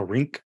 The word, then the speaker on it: rink: the n k so rink you can barely hear the N but it's still there rink stink sync crank sync